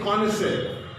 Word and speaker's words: connoisseur: So check the spelling and the pronunciation of this word. Totally different. The writing and speaking, just different.